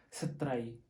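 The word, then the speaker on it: ស្រី: Pronounce correctly. If sat that mean animal, and tray that mean fish, and you need to pronounce more quickly and don't mean someone like they are the fish, so you need to pronounce quickly. Okay, stray. If you pronounce and word by word, stray, that means you call them they are fish, they are a fish, some kind like that.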